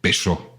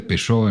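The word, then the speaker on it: Peychaud: Y vamos a echarle 2 chorritos de bitters de Peugeot. Peugeot se escribe P-E-Y-C-H-A-U-D.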